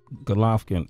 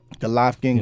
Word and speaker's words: Golovkin: Golovkin. That That's how you say it, right? Golovkin.